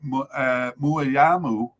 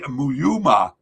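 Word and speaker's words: Mouyouma: Gabon wanted to replace Nouveau with a domestic figure, and they chose Thierry Muyama. Sorry, I got that all wrong. I butchered his name there. Thierry Muyuma.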